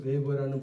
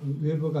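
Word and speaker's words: Weber: 버라 그래요 버가 아니라 웨버가 아니고 베버 버 버 버 부위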